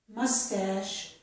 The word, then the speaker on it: mustache: Here we have words with the letters CH, which make the sh sound. This is charade, chef, Chicago, machine, mustache, and brochure.